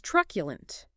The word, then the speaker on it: truculent: Next is truculent. T-R-U-C-U-L-E-N. Truculent. 3 syllables. Stress on the first.